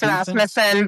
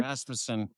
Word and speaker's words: Rasmussen: Did I get No, you didn't. It's Rasmusen. But that's okay. Rasmmanson.